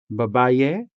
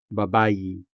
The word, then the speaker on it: babayi: Saying babaye? No. Since babayi is a native word, even though it is spelled with an E sometimes, it is still sounded with the native E sound. Babayi.